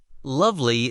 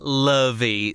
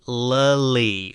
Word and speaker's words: lovely: Lovely is pronounced lovely, with stress on the first syllable. Don't say lovey, say lully, warm and round.